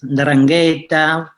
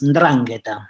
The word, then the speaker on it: 'Ndrangheta: enunciar esa palabra correctamente, no es 'ndrangheta, no es la dragheta, es 'ndrangheta, ¿sí?